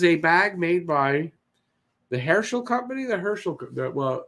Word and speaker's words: Herschel: This is a bag made by the Herschel Company. Well, I'm Jewish, so I would say Herschel. It's the Herschel Company. There's just a slight difference in how you say it, but there's a difference.